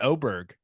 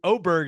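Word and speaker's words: Åberg: you you you went oberg you'll hear aberer quite a bit but I O is oberg is the proper way to say it right it's the a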